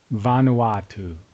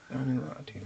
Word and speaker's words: Vanuatu: Let me see if I can get a pronunciation on this. Vanuatu. Vanuatu.